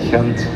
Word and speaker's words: Gent: city for me get pronounce it for me gent hent okay that makes more sense yeah I'm Canadian